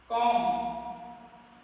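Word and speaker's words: comb: कॉम, B silent.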